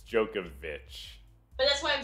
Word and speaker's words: Djokovic: Oh, but it's not Djokovic like that. It's Djokovic.